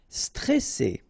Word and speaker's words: stressé: droit final not pronounced stressé ok remember you got double s here pronounce really strong while it's between two